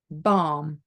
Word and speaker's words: balm: Then L is silent when it is before another L, D, F, M, or K. So for example, before an M, calm, balm.